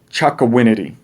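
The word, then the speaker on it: Chocowinity: and outside of little washington is the town chakawinity chakawinity hey we got to cuss when saying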